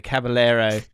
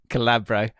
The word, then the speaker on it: Caballero: city players names wrong here's a few of my favorite examples so caballero calabro ianacho ichi nacho ichinacho uh gunda one gun doggie